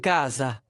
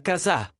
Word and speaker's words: casa: Donc pas càsa, mais casà. Pas libro, mais librò… Non, attends. L'accent est sur libribro (LIVRE). Ah, casà non, c'est càsa !